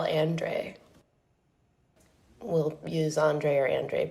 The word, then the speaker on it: Andre: This is a conversation between me and it's um a conversation about Carl Andre who he actually pronounces his name Carl Andre.